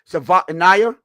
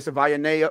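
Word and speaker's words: Savaiinaea: He put that um Jonah I I guess how you say it. Savva Annayiah, right? That that you know, everybody was saying Savana. Well, at least I was saying Savana. Uh, so I was close but so Jonah we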